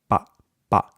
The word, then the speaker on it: papa: it would sound like papa, papa, papa. Quiero comer una papa. In Spanish, though, what you want is that pa, pa. It's more of a muted sound.